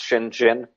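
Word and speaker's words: Shenzhen: Village in 1980 called it's spelled shenzen it's pronounced Shen Jin it's now the most famous of the special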